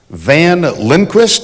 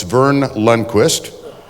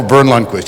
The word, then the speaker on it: Verne Lundquist: He said, Van Lundquist? I said, no, it's Verne Lundquist. The E is silent.